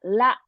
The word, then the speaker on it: ら: Japanese R sound, it's looks like L sound, L pronunciation in English. Let's check. Let's review. Here you go. よ、よ、 Yo, good. や、や、 Yeah, good. ゆ、 One more. Don't なんか curl your tongue up. It's a la.